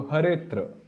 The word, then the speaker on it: Haretra: So Hare Yukta Atra, Haretra, and when we have to pronounce, then we do not pronounce this as A. We just skip it because it's deleted. So Haretra.